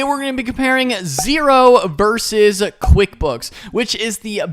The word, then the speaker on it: Xero: and what is xero so zero pronounced zero is spelled x-e-r-o zero is an accounting